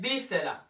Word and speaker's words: dísela: So it sounds like dísela, right?